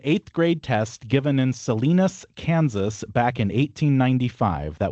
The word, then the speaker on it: Salina: I don't know if there ever used to be a Salinas, Kansas, but there is no Salinas, Kansas now.